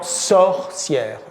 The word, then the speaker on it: sorcière: Le O est plus fermé dans saucière, une saucière, que dans sorcière. Dans sorcière, le O est ouvert, sort. Ici, c'est so.